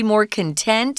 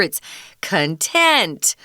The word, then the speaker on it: content: one thing it says pets tend to be more content if you're content you're satisfied you're happy um that the same word can be pronounced content which is a different definition that just means